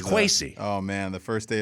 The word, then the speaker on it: Kwesi: Well, hey, Quincy. A lifetime of having a West African name that I love and dear to my heart, but it's been mispronounced every which way possible. So really, there's it's Kwesi.